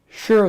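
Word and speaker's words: Shearer: So, Shira is spelled S H E A R E R.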